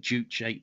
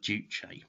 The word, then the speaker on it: juche: character represents a syllable so it's two syllables jew which roughly translates as master and che which means body or oneself so it means master